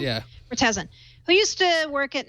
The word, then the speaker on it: Murtazin: Murtazin, who used to work at Nokia and now is a big thorn in their side.